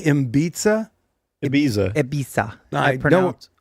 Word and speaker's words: Ibiza: to Ibiza or wherever the hell he's going, and we Did you say Ibiza? Ibiza. Ibiza. I don't. I pronounce it like a native Interesting 'Cause way to pronounce Florida Keys.